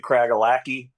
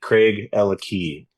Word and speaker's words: Craigellachie: Yeah, a lot of people pronounce it Craigellachie. Yeah. But it's Craig and Ella have the key. Craig, Ella Key.